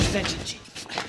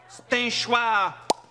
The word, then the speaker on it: Stenchoir: Mr. Stenchy. Oh, please, sir, I am so sorry. Look, I... It is pronounced Stenchoir.